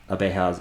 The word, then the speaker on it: abeja: Abejas equals to abeja. And if we were to go over to here, pronunciation notes, the J is pronounced like the H in hat, ha, abeja.